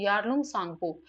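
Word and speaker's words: Yarlung Tsangpo: आपको याद रखना है यारलंग सांगपो इसमें टी जो है वो साइलेंट होता है यानी कि बोला नहीं जाता है सीधा ए से प्रोनंसिएशन स्टार्ट करते हैं और दूसरा नाम है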